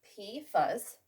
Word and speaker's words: PFAS: Well, we've got PFAS, pronounced PFAS, and this lovely word, which is pronounced Polyfluoroalkyl.